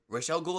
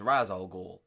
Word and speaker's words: Ra's al Ghul: started noticing oh hey Rochelle ghoul actually exists only as Ra's al Ghul yeah yeah it's more of like the character exists but we're not going to save the name correctly and we also got